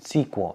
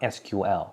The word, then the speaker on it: SQL: I don't know why, but for some reason it's pronounced SQL, not SQL, but we write SQL.